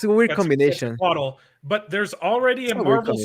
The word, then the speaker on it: Quetzalcoatl: Well, Quetzalcoatl is the right pronunciation, but I love how Americans pronounce Aztec names.